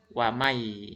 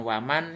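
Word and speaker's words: وَمَنْ يَعْمَلْ: Mai, wamai gitu ya. Wamai ya, kalau ini kan sin bukan ya. Jadi kalau umpamanya ini huruf ya dibacanya langsung wamai, bukan waman ya, tapi wamai gitu ya.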